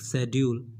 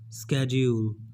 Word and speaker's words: schedule: It is not schedule. Many people speak schedule, but the right pronunciation is schedule. Okay, schedule.